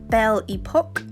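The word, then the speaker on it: Belle Époque: And then this one, it's pronounced Belle Epoque, but I like to say belly poke because my children poke my belly quite a lot.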